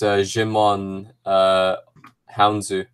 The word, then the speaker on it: Djimon Hounsou: of the galaxy yeah I would say it's Djimon Hounsou that's it there you go there you go